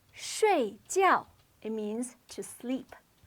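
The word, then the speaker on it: 睡觉: this word is pronounced Shh gel it means to sleep both of these syllables have a fourth or falling tone Sri GL now take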